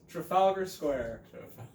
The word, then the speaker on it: Trafalgar Square: what we're here for that's welcome either polybag pronounced words first profile ger square say it with us Trafalgar Square our next one I was gonna I was